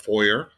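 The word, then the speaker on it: Fouéré: F as in Frank, O-U-E-R-E. And it's got the accent marks over the E's. Then that's, well, Foyer.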